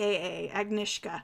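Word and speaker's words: Agnieszka: her girl named that because it's AG in IES z ka AG Nishka right right yeah it's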